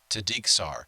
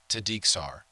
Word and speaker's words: Tideiksaar: And let me just say this, that I got his name right the first time I said it. I got an A+ from him. So I'm saying it right. I think he said it was Scandinavian, if I'm not mistaken.